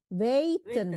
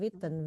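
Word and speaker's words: weten: Waiten bacanya ya bukan Witten.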